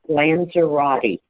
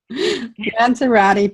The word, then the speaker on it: Lanzerotte: Yes, and it's pronounced just like it's spelled, Lanzerotte. Yeah. Every letter is pronounced. Every letter. Lanzerotte, Lanzerotte.